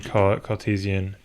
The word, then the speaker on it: Cartesian: to be in do I want it in cartisian that's how you pronounce it and then spherical okay beautiful right